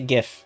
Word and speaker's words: GIF: with showing it and I pronounce it gif with a hard G GIF GIF GIF not GIF next question is from